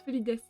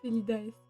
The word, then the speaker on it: felidaes: Je suis toujours hésitante, à prononcer les pseudos des gens parce que typiquement moi, mon pseudo fun fact, hein, ça se prononce Felides, pas Felidaes.